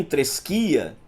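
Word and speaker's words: θρησκεία: Assim, tresquia, e é assim que se pronuncia, viu, no grego, tresquia, pode ser traduzida tanto por religião como por forma de adoração boa ou má.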